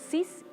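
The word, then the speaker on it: six: Y en segundo lugar, 6 y 10, aunque se escriben con X, se pronuncian 6 y 10, como si fueran escritas con S.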